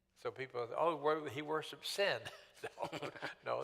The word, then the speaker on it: Sin: sometimes you spell it s i n so people oh he worshiped sin no the name of the God was pronounced s en sin sometimes spelled s n